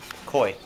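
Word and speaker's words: Caughey: what's your last name koi Co y well that's the easiest way to just it's nothing like it sounds spell it for me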